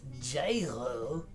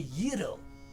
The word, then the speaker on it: gyro: It is most certainly not gyro, but a gyro.